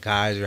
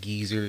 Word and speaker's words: Guyzer: I'm like, oh wow, he know about Geyser, how to say it. Niggas would be like geezer.